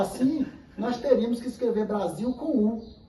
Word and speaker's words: Brasil: Nós falamos Brasil porque é um fenômeno linguístico. A a a a lateral L se transformar na vogal U. Bras, em vez de Brasil, Brasil, porque é mais fácil para pronunciar Brasil.